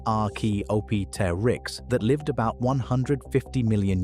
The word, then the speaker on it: Archaeopteryx: a strange feathered oddball called Archaeopteryx, pronounced ar-key-op-ter-ix, that lived about 150 million years ago in what is now Germany.